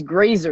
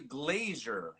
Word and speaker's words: Grazer: used to call me it's grazer there's no i there's no i but i used to call you glazer so it's better than